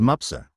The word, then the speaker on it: Mapusa: board a bus to Mapusa. The 15-kilometer journey from Panjim to Mapusa, pronounced as Mupsa, wound through lush, leafy